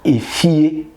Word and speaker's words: efie: So note the difference. E as in efie, house.